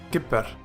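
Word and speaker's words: כִּפֵּר: dive - Forte and it is doubled you pronounce it as Kippur and it means he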